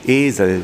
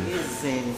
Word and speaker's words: Esel: Esel. Esel, con doble S. No, Esel, un E largo.